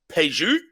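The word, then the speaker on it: Pajeú: It's spelled Pajeu, and the U doesn't have an umlaut. It's got a little dash over top. Paju, Paju, Paju, okay.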